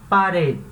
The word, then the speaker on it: pared: parede tá lembrando que esse te aqui no final ele não é mudo tá ele tem um sonzinho bem fraco de ver então parente parente tá não é parede nem a parede tá é um som bem fraquinho parede então parente quem é